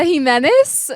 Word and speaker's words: Gimenez: what I'm now it felt like nothing h menz welcome to poster on hi hey thank you you pronounced my name so well I'm so proud